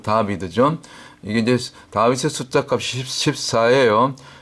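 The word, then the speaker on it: דָּוִד: 영 다라고 그러죠 다 다 혹은 다윗 다비드 원래 발음 다비드 이게 이제 다윗의 숫자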